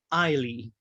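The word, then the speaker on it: Eille: If you ever have trouble remembering how to pronounce his first name, just remember that it was a tribute to his former girlfriend, Eileen. He just shortened it, Eileen Eiley.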